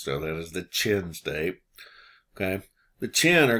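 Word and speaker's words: Qin: which is called the chin state yes i know it's written with a q and in chinese you will pronounce it ch so that is the chin state okay the chin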